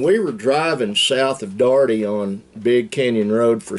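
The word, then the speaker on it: Dougherty: remember we were living down in in a darty d-o-u-g-h-e-r-t-y but it's pronounced darty gotta get a sip when all that was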